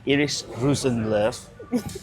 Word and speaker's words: Iiris Rosenlöf: I'm sat here with Iris Rusenv. Yes. Um, perfect pronunciation that was, by the way.